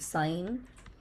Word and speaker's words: sine: So this is s the pronunciation is this pronunciation is a little different sine this is cosine and then there was one more he defined tan theta that is opposite side by adjacent side.